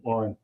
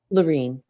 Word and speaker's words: Lorene: I have one question, and I can direct this at Lauren. I'm sorry, what was your first name? Lorene. Lorene, I'm sorry.